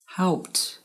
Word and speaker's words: helped: Helped, looked, relaxed. The ed sounds like a t or a t sound.